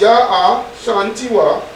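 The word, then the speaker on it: Yaa Asantewaa: The rallying cry came from the Queen Mother, Ya Asantewa, pronounced Ya Ashantiwa, as a woman who hated injustice.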